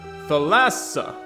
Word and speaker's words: Thalassa: supposed to say it either t or th but the middle syllable is accented not the first what phallus the lassa ew i don't like that thalassa thalassa thalassa her name